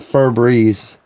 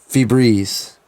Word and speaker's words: Febreze: because i'm southern but i've been calling it fur breeze like my whole life when it's really febreze yeah febreze yeah the